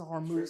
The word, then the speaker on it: Hormuz: me, the Strait of Hormuz. I think I said it right. Yeah, the Strait of Hormuz ends in Z. It was Hormuz.